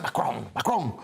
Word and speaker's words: Macron: Yeah, well, it's interesting because Macron, I love that, about pronouncing his name properly, Macron, breaks protocol to host Starmer at the Élysée